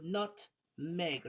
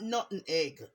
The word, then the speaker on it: nutmeg: Nutmeg, people. Nutmeg. Not nut and egg.